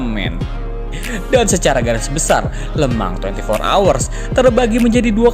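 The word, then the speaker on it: Le Mans: Lemang 24 hours sesuai pronunciation orang Prancis. Bukan lemans ya, man.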